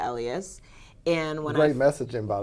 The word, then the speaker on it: Elious: in a sense and it rhymes with my last name so it's rebellious by Elias and one great messaging